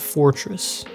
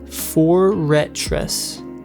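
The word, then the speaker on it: Forretress: that it hold on it's four four ret foretress not Fortress the way it's spelled foretress not Fortress I I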